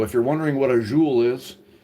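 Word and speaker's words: zhoul: So, if you're wondering what a jeu is, a jeu is uh it's spelled z h o u l.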